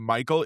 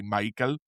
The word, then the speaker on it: Maikel: It's I think it's and we're probably going to pronounce it Michael, because it does sound like I'm trying to do a racist stereotype when I say Maikel, but I think that's literally how it's supposed to be pronounced, based on how he said it, based on my admittedly rudimentary understanding of the Spanish language, and how names are usually pronounced.